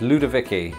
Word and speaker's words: Ludowici: oh that was weird oh but if it is German that W would be pronounced with a V not in America but we'll do it anyway ludovici that's what it is it's ludovici Ludowici Ludowici well now